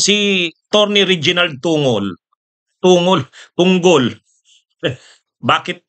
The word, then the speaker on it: Tunggol: Tinanong siya, "Papaano po ba namin ipo-pronounce yung yung apilyo mo, attorney? Tungol o tunggol?" Sabi niya, "Tungol." Yung parang munggol. O. Yun kaya sorry, hindi pala tungol. Tunggol.